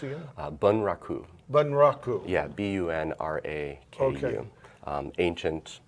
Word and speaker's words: bunraku: I worked in a Japanese puppet style called bunraku, and it took 3 puppets, or 3 puppeteers to operate 1 I puppet. know, how was that pronounced again? Bunraku.